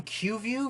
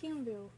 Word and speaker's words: Keanu: How do you pronounce his name? Did you call him Q-View Reeves? No, Keanu.